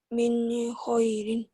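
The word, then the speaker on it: من خير: Ini hukumnya idhar. Jawabannya karena alasannya kenapa? Karena nun mati atau nun sukun ini ketemu kho. Cara bacanya gimana sayang? Dibaca? Min khairin. Min khairin. Jadi harus dibaca Jelas. jelas. Tulisan dan dibaca, tulisan dan Sama. bacaan dibaca sama. Ditulisnya min khairin, dibacanya juga min khairin.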